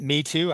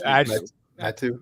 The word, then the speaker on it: Metu: Is it Me Too? I don't even know. It is Metu. Metu.